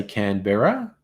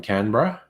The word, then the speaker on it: Canberra: yeah Justin I think Americans tend to say Can Bearer rather than Canberra and Brisbane rather than